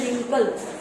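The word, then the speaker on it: wrinkle: यहाँ पर भी 4 नंबर में रिंकल, उसमें भी W साइलेंट है।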